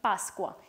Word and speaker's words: Pasqua: They would be pronounced in two different ways. In Italian, Pascua, and in Venezuelan Spanish, Pascua.